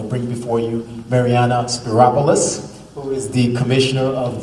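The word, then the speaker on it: Spyropoulos: big challenge it's marianna spiropolis rhymes with metropolis so no reason to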